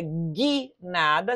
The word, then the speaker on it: guinada: Aqui você leria guinada, sem a pronúncia do U, e aqui você leria linguiça, porque haveria trema nesse U aqui, ó.